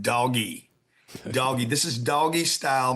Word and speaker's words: DOGE: Number two, this is, for some of you, DOGE is pronounced doggy.